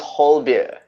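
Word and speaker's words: Højbjerg: all that will be hoibein himself yes yes it's pronounced whole beer yeah okay yeah as in holding a beer whole beer yeah oh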